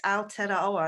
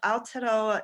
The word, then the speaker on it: Aotearoa: the Māori name for your land, which is Aotearoa, and I hope I am pronouncing that right. Yeah. I gave it a go this morning, and I'd love to know what the meaning of Aotearoa is and why it was called such.